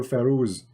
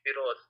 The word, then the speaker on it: Firoz: I'm not going to call you Firoz. You know, you drive me crazy, Firoz. Actually, you are pronouncing my name wrongly. It is Firoz, not Firoz.